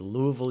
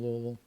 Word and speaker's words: Louisville: or had family from louisville or and i'm pretty sure i'm pronouncing it right where you kind of just like you say la and then a bunch of vowels and then vol the city streets were